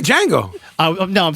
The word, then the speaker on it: Django: and now I can't you said it right Django oh no I'm saying the Django oh thejang